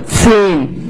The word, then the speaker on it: zehn: And here you have another H, which is silent and just lengthens the vowel. Zehn.